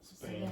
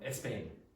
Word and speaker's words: Spain: You cannot take and go pain because you will be mis misunderstood. Pronounce that. Spain. Spain. Spain. It is not a problem if you add sounds. So, Balen, for example, might say that she is from Espain.